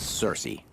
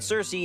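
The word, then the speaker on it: Circe: Last, but certainly not least, is Cersei, or Kirky, as it's sometimes pronounced.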